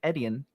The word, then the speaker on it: Etienne: running back than Travis Etienne. How do you pronounce that name? Just think of it as letters. The letter E, the letter T, and then the letter N.